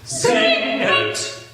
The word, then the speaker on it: Singet: So in choir 2, he starts just the word Singet, 2 syllables. Singet, singet.